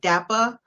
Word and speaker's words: DAPA: parents also now did i say that correct dapper correct yes it is that's pronounced okay i um want you to just